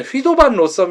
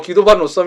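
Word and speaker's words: Guido van Rossum: 아저씨 인데요 어 네덜란드 사람인 에서 원래 내 휘도 반 로섬 이라는 게 발음이 더 봤는데 이탈리 어마 름으로 귀도 거든요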